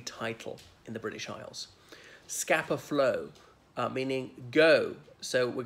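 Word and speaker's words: Scapa: Whereas scapper, as in the place, scapper flow is S-C-A-P-A.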